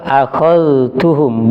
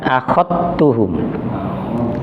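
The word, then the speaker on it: أخذتهم: Jadi yang betul akhaltuhum, bukan akhadtuhum.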